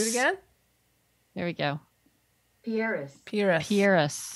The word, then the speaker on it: Pieris: How does one pronounce that word? Let's find out. Pieris? Pieris? P-I-E-R-I-S.